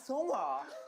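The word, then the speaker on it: Seonghwa: Pronounce their names. Hi, my name is Songhwa.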